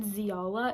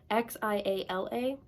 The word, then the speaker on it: Xiala: I've been pronouncing it Ziala. It's Xiala. So Ziala, Zyla. I'm trying to pronounce it like xylophone. I don't know if that's correct, but she's my favorite character so far.